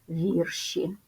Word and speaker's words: вірші: однина вірш множина вірші наголос сталий і він залишається на першому складі запам'ятайте потрібно вимовляти вірші